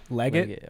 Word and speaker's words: Legat: how do you say your last name leggett leggett yeah i don't yeah okay don't ask okay it's it's spelled weird okay so if if you just